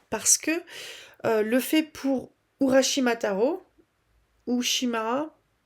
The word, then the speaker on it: Urashimataro: que le fait pour Urashimataro ou Shimara. Non, j'ai plus j'ai pu il y a trop de syllabes. Euh je crois que c'est Urashimataro. Le euh la tortue va